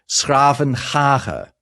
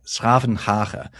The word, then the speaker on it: 's-Gravenhage: I'm going to really struggle to pronounce this, but I'm going to have a go. It used to be called Schravenhage, right? Schravenhage.